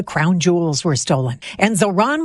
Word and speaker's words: Zohran: And Zohran Mamdani, the mayor-elect of New York, also one of the year's most Googled names, says it's Zohran, not Zoran, and often gets Mandami or even Zamdani.